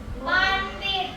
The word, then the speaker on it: บัณฑิต: มย 2 เสียง ท เฉลย บัณฑิต ออก เสียง ด ตก รอบ ไป นั่ง